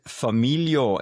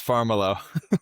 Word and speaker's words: Farmiloe: Familio, am I saying your last name correct? No, Chris, you butchered it. It's It's Pharmalo.